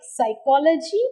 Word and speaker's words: psychology: both leave it out in words like psychology and psychiatry you must never sound p k is lost in